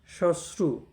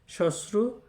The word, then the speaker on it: শ্মশ্রু: ফলা রসুকার এই এই শশ্রু হ্যাঁ শশ্রু উচ্চারণ কিন্তু এক একটি অর্থ হচ্ছে শাশুড়ি